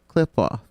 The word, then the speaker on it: Qliphoth: And for those that have not figured out what the pronunciation of the actual title is, it is the Qliphoth.